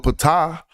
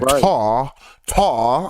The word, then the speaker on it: Ptah: And so I hope they don't do that with Ptah, because they be saying Tar.